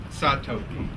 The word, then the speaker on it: Tsatoke: It's Hoki, Asa, Mapopi, and then Satoki.